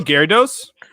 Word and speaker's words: Gyarados: But Gyarados?